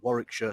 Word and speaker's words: Warwickshire: 3 counties, those being Warwickshire, Staffordshire and Worcestershire. And yes, for any Americans watching, that is how you pronounce those place names.